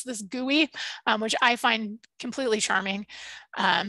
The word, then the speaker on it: GUI: graphical user interface or GUI, but mostly people pronounce this GUI, which I find completely charming. So you're more likely to hear someone call it a GUI, like a desktop GIS GUI.